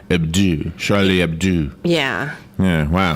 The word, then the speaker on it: Hebdo: But they pronounce the O like a U, like two O's, like ooh, like Hebdo. Hebdo, Charlie Hebdo.